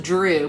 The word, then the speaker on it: Dhru: Baker's talking to is I think this is pronounced Drew, but it's DHRU. The last name is Purohit.